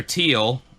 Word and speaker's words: Teal: Officer Teal, is the only way I can hear that Robert Stack pronounced it, like as in the color.